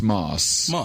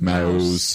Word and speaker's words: Mauss: Well, it is a strange one cuz it's pronounced Moss, but uh it looks like, you know, a lot I hear a lot of like mouse or M who's this?